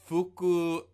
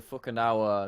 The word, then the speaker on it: Fukuoka: The last time we recorded this, he introduced them as the Fukunawa SoftBank Hawks.